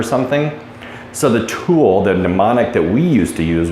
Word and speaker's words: mnemonic: pronouncing a little bit I said pneumonic is that pneumonic it's mnemonic okay and it spells so weird okay so the mnemonic